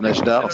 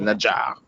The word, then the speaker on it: Nadjar: Najdar, donc, quel était bon, déjà, il faut que je lui apprenne à prononcer mon nom parce que c'est pas Najdar, c'est Nadjar.